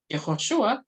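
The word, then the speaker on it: יְהוֹשֻׁעַ: Por ejemplo, en el caso del nombre de Jesús en hebreo, Yehoshua, ¿cierto? Se pronuncia así en arameo, pero o sea, en hebreo, perdón, y en arameo se pronuncia Yeshua.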